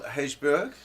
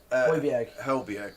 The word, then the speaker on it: Højbjerg: God, I'm not really good with my pronunciation tonight, Rodrigo Bentancur, thank you. Pierre-Emile Hejbjerg. Is that right? Emerson Royal. Who? Højbjerg, blimey.